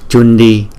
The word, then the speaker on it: Cundī: Phần kế tiếp là phần tiếng Phạn, và cái tựa đề của cái bài chú này là Chundi Dharani. Chữ C chúng ta đọc là Cha, Chundi Dharani.